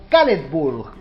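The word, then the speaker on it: Caledfwlch: de esta manera, pero se pronuncia, si mis fuentes son correctas, algo así como Caledburg.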